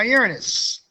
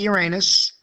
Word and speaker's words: Uranus: Now, Uranus, or some call it Uranus, depending on the pronunciation, but the information about it remains pretty constant.